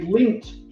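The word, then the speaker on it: Lindt: about the the L it's spelled like l i n DT or something like that right yeah yeah it's got a silent it's got a silent in it and so my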